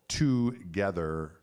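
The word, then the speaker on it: tgthr: so that's on saturday night 5 pm central together together dot com dot co t g t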